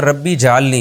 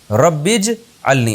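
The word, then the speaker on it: رَبِّ اجْعَلْنِي: नमाज कायम करने वाला इसको लोग अक्सर पढ़ते हैं रब्बी जलनी ये गलत है रब्बज अलनी असल में था रब्बी इज अलनी अलिफ साइलेंट हो गया ऐ मेरे रब बना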